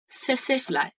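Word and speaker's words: tsetse: सेसेफ्लाई। T silent.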